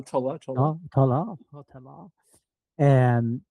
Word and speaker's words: Tolle: Tola, Tola, Tola. Oh, Tolle.